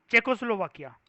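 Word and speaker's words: Czechoslovakia: इस कंट्री की प्रोनाउंसिएशन होती है कशिश खतरनाक सी, ये जो दिख रहा है ना आपको, चेकोस्लोवाकिया। क्या बोलते हैं? चेकोस्लोवाकिया। जेड साइलेंट होता है।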